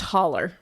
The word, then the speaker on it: hollow: We lived up in a hollow, pronounced holler.